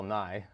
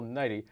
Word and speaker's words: Nighy: I believe you said Bill Nye, but Bill Nighy.